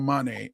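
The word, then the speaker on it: Mané: favorite team Liverpool Sadio Manet and it's pronounced mane like my name Manet so I call him my cousin and they won the African Cup of Nations Championship.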